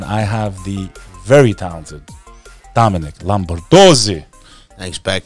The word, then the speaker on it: Lombardozzi: Yeah, I mean, it's said the way it's spelled, bro. It's like if you went to like second grade, you should be able to say the name.